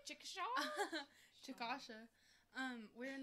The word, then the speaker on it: Chickasha: Chickasha.